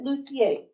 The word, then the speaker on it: Lusher: Is that Lusher or Lucier? He pronounced it Lucier, but it's spelled Lusher. So Yeah, where, from the fancy part of a country he comes from, that's the way he said it.